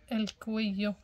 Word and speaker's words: cuello: el cuello, el cuello، جوج ال ال كيقراو كيتقراو كيو، الكويو كيتقراش الكوي لو، الكويو.